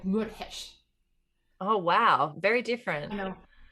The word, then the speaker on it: Meurehg: So it would be something like Meurehg.